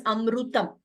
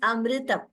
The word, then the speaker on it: amritam: So that ru, we should not pronounce it as amrutam. It is amritam.